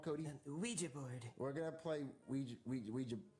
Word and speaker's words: Ouija: It's pronounced Ouija, Junior.